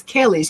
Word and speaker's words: Kellys: And it's Kellys, Kelly. Yes, ma'am. Make sure you get the right pronunciation.